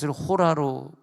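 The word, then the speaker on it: ὥρα: 땐 때란 말이 나오잖아요 그 때라고 쓰일 때는 헬라를 호라 발음 하거든요 호라 이 호라는 헬라가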